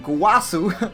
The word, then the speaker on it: Gowasu: one drop go gwasu can never say his name for some reason gowasu not zamasu gowasu and he picks up